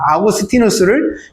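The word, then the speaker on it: Augustinus: 어거스틴이라는 이름은요, 영어식 이름이고요. 원래 그 이름은 아우렐리우스 아우구스티누스입니다. 아우구스티누스를 영어식으로 발음을 하니까 어거스틴이 된 거거든요.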